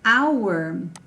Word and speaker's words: our: car yes and um our we pronounce it like this right like like the the words hour for time but it's very common